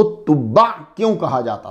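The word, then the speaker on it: تبع: तुब्बा का माना, इन बादशाहों को तुब्बा क्यों कहा जाता था? तो जब आपने इसको प्रोनाउंस करना है तो आइन की साउंड आनी चाहिए। तुब्बा, तुब्बा तुब्बा नहीं कहना, फिर माना चेंज हो जाएगा।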